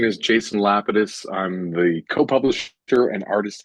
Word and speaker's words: Lapidus: I pronounce it Lapidus, but I've heard it pronounced a multitude of ways.